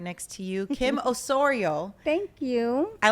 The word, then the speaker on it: Osorio: full name you know I was saying your last name wrong for a long time I'd be like osario and I watched all your interviews and I see how you pronounce it and I'm like it's Osorio I think it is but